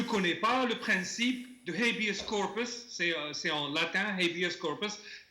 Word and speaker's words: habeas corpus: Le habeas en français, on le prononce, c'est une expression latine, on le prononce habeas corpus. Voilà, habeas corpus.